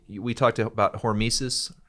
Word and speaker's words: hormesis: Last thing I want to say, we talked about hormesis, right?